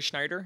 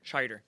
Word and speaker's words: Scheider: I do want to talk about the cast because we got Rory Schneider. Is that how you say it? Scheider.